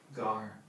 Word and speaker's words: Pygar: Gar, the PY is silent.